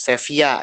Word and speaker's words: Sevilla: Ya, mereka merebut Sevilla misalnya, Sevilla ya bacanya, tulisannya Sevilla, bacanya Sevilla.